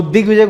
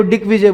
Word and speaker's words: दिग्विजय: वो दिग्विजय को डिक्विजय बोलती है।